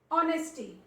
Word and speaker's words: honesty: Honesty. Honesty. Honesty. H is there but it is silent.